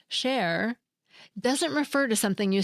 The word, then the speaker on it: chair: more Sinister that's because in French chair spelled c h a i r but pronounced share doesn't refer to something